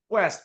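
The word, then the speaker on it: Kuest: It's pronounced Quest, Peter Quest, 60 to 1 this week.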